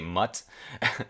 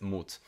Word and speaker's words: Mut: he also saw himself in his son uh moot i think it's it's spelled like i guess in english i guess you would say mutt but i think it's in german it's moot which means courage oh nice name yeah uh